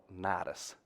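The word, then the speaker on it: Cnidus: They're trying to go up here to a place called Nidus, which is actually spelled with a C.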